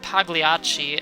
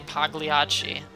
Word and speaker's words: Pagliacci: Vero says, you don't pronounce the G in Pagliacci.